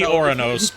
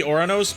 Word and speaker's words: Uranus: So it would be Oranos. It would be Oranos because proper Roman pronunciation of their god equivalent to that would be Uranus, not Uranus.